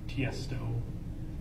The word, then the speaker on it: Tiësto: There's an artist like Tiësto. Tiësto. He's an electronic Can you DJ. spell it?